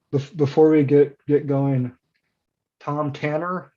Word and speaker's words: Thom Tanner: we get get going tom tanner not nothing fancy about the pronunciation right and uh are